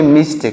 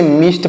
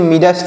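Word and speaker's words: midst: आई डी एस टी तो यहां पर डी साइलेंट है यानी जो ये डी लिखा गया है यह साइलेंट है इसको हम नहीं पढ़ेंगे तो इसे मिस्ट पढ़ेंगे इसे मिडस्ट नहीं पढ़ेंगे मिस्ट पढ़ेंगे और देखिए इसे क्या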